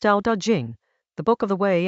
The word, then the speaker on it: Tao Te Ching: Chapter 43 of the Tao Te Ching, pronounced Tao Te Ching, the Book of the Way and its power, opens with what sounds like a paradox.